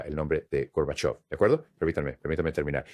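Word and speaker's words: Gorbachev: Ahora, de of of, ahora pronuncia of con el acento y dilos juntos, Gorbachov. Lo tienes, señor vicepresidente. Es Gorbachov.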